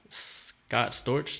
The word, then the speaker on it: Scott Storch: for like yo famous like producers and stuff Scott Storch yeah that's how you pronounce his name he's a he's produced like